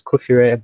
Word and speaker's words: Kufirre: correctly thank you very much my name is kufire i'm an embedded family engineer i've been